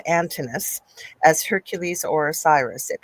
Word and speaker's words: Antinous: So there said the kid, but it's Antinous, as Hercules or Osiris.